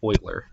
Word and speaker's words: Euler: No, I'm not saying boiler with a B. It's Euler. I'll write his name on screen for you. It's spelled like Euler, but it's pronounced Euler, like this.